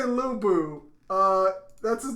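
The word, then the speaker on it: Lü Bu: so my notes say lubu uh that's his name right is that how you pronounce it lubu yes okay i'm just gonna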